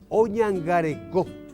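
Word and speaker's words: oñangareko: Oñangareco, cuida, protege. Silabeado es oñangareco. El acento en la última vocal y por ser final no lleva acento ortográfico.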